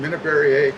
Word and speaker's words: Minnabarriet: And I'm saying Minnabarriet because that's the French pronunciation of our Minnabarriet.